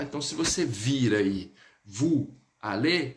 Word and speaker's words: vous allez: aller, aí você vai, vous allez. Eu vou ligar o S com o verbo, porque ele inicia por vogal. Então fica assim, ó, vous allez, um som de Z.